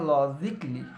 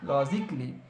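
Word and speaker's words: logically: যে লজিক্যালি ইটস নট লজিক্যালি এটাকে বলবো আমরা লজিক্যালি লজিক্যালি বিকজ এল এল ও এর আগে আছে ইয়ে তাই ওই জন্য আমরা ইয়ে উচ্চারণ করবো না আবার নট মিউজিক্যালি একইভাবে ইটস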